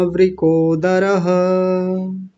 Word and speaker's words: वृकोदरः: वृ वृ और आगे है दरह कई लोग आप में से दो लोगों ने बोला धरह धरह नहीं दरः द का विशेष ध्यान